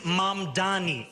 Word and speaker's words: Mamdani: And furthermore, the name is Mamdani, M-A-M-D-A-N-I.